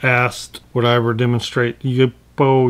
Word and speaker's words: YUPO: of you have asked what I ever demonstrate you bow you bow we pronounce it and yes I've intended to do